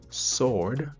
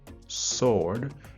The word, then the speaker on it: sword: pas règle générale par mais la W pas prononcé du tout W silence dit sword sword et dit answer answer et non pas answer